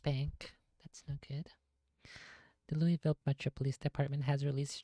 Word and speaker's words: Louisville: It is Louisville.